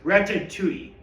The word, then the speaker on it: Ratatouille: By the way, it's pronounced retui.